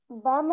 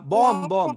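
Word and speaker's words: bomb: जब एम के बाद बी आएगा। देखो, लैम्प, थम, बॉम्ब, जो रेड बी है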